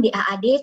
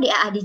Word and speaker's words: DAAD: Sedikit saya ingin memperkenalkan DAAD tempat saya bekerja.